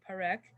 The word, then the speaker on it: Parekh: and the pronunciation is going to be Parekh.